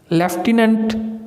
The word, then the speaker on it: lieutenant: तो ये एफ़ की आवाज़ दे रहा है। तो अगर आपको स्पेलिंग का नहीं पता होगा तो आप एफ़ लगा देंगे, ये गलत हो जाएगा।